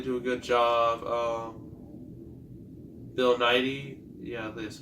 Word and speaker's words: Nighy: Bill Nighy, that's how you say his name.